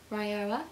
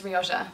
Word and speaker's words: Rioja: I'm pretty sure you pronounce it Rioja. Ryoa. I'm pretty sure the J is silent, so I used to think it was Ryoja, but I was corrected